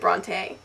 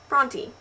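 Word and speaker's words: Brontë: not an um out it is a diasis and it just means that you should pronounce the E Bronte which leads me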